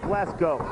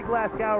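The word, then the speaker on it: Glasgow: tag not enough momentum behind him actually should pronounce it glasg go if you say glasow around these people you might get you might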